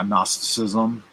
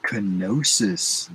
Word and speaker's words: Gnosticism: Yeah, Gnosticism, definitely. I heard a guy calling it kenosis the other day. I was like, the G is silent.